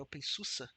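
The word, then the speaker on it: openSUSE: open sources que que na verdade é open Susa que se fala na no caso ele é Alemão então deve ser por isso a a pronúncia diferente então são várias distribuições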